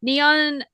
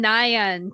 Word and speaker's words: Nion: So I used to call her Neon Neon Creations but is Neon Nion Creations or I pronounce her neon but now I just say mom.